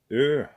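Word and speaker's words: ø: We got this one here, and that one you pronounce ö, like like in pearl, pearl.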